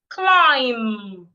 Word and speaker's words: climb: Climb. The B is silent.